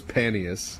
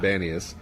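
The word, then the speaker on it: Banias: referred to as banius which p got turned into be it was paneus but now it's in banius that's because arabic speakers can't say yeah there's a tendency to pronounce a p as what we were just as a p as a b um and so there's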